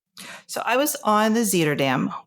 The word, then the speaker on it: Zuiderdam: So, I was on the Zeter Dam, which I like to mispronounce about half the time and then I would hear it be pronounced. So, I think it's finally burned into my head. It is Zeterdam.